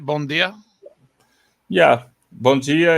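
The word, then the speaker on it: Bom dia: Am I pronouncing that right? Bon dia?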